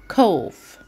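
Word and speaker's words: cough: اسمها كاف كف كف الجي والاتش في الاخر هتنطق هتنطق هتنطق كوف اوكي طيب لما يكون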